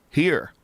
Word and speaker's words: hir: Here, here's, here, here. How about here? Pronunciation. HIR is here. It's not even her.